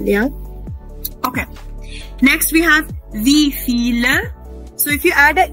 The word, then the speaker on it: wie viel: So don't read it as wheel. It will be wie viel. Why feel? Because wie in German is pronounced as F. Remember everyone? So we'll pronounce it as wie viel.